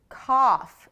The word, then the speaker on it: cough: Cough. It's kind of like you're coughing.